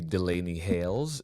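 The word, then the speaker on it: Delainey Hayles: But so, oh, also, um, I got a comment that I'm pronouncing Delane's name wrong. It's actually Delaney Hails.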